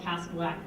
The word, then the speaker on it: Cascawack: reported being greeted by a woman he called the Queen of Quack, which he was mispronouncing a place called Cascawack, place of herons, not